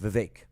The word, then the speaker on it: Vivek: Wednesday Vivek okay yeah I'm sorry it's pronounced Vivek all right make sure